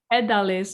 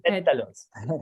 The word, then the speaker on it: pétalos: Pedales or something. Pétalos. Pétalos, that was why the O at the end that messed me up. Tiene pétalos de caléndula en el té y es muy lindo.